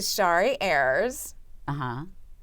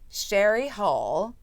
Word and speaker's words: Shari Hull: To Shari Ayers. Shari Hull. Shari Hull. See, I knew you correct me. S-H-A-R-I. I knew it. I mean, that's the way you pronounce it.